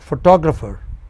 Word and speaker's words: photographer: But, photographer. Four syllables. And the second syllable from the beginning is stressed.